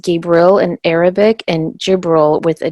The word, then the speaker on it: Jibril: her name means God is my strength it's pronounced Gabriel in Arabic and Jibril with a J in Islam he serves as